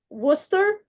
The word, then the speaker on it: Worcester: It's Worcester, Massachusetts. It's spelled very differently than it said.